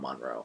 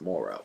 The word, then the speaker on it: Moreau: of Dr Monroe Morrow I always want to say Monroe but it's not Monroe it's Moro and while discussing this